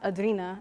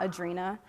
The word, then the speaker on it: Adrina: And Adrina is pronounced Adrina and not Adrina.